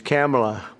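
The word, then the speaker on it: Kamla: first name that we have, but fortunately it's pronounced different. It's Kamala.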